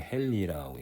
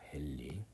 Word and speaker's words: 헨리: H라고 쓰고요. 읽을 때는 헨리라고 읽습니다. 헨리.